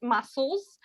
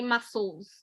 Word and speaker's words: muscle: Harry, you said the word muscles. I just wrote it in the chat. So it is spelled with S and C, but it's the C is silent. So you only say muscles.